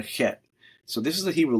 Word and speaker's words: Chet: So this is the Hebrew letter Chet, which means it's like the CH, but the C is silent, so it's Chet.